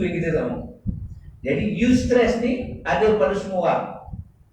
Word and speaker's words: eustress: Dinamakan sebagai eustress. Ejaan dia EUSTRESS. Eustress. Dia tak panggil EU. Macam perkataan Europe. Dia tak panggil kan? Europe. Eustress.